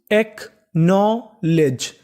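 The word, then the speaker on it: acknowledge: आपको एक रूल और याद रखना है, अगर आपको कभी एन से पहले के लिखा मिले तो आपको के का उच्चारण नहीं करना होता, के हमारा साइलेंट रहेगा, हमें खाली उच्चारण करना है एन का।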